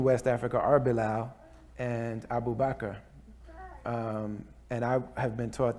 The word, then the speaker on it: Abu Bakr: Africa are Bilal and Abu Bakr. And I have been taught that the name Abu Bakr, and it's pronounced Bubakar, or like the sheikh in Babakir, that the reason why